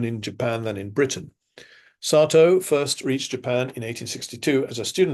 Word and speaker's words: Satow: rather on Ernest Mason Satow, 1843 to 1929. Please note the English pronunciation is Sato, not Sato, which is the Japanese pronunciation, which causes confusion because people think he's a Japanese.